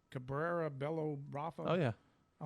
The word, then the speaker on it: Cabrera Bello: i'm going to pick this is how you pronounce this guy's name cabrera bello brother oh yeah i like that guy he